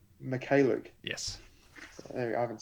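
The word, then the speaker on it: Mykhailiuk: McCalluke.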